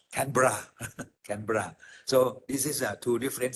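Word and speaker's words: Canberra: T but my Australian friends uh said they pronounce tbra canra so this is two different cities and we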